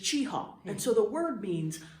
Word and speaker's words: Cheaha: So the original was Cheaha. And if you go back to the Upland Highlands video, and I'll share that with you. Okay. The original pronunciation that they had for the park was Cheaha, very nasally. And we have now moved to a modern pronunciation of just Cheaha.